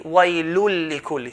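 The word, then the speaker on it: ويل لكل: Waylun lik will be waylul likulli. So join the tanween into the lam, waylul likulli.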